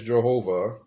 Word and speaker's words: Jehovah: saying that the father his name is jehovah uh that's the actual pronunciation saying that jesus is